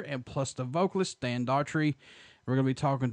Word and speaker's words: Daugherty: It's pronounced Daugherty.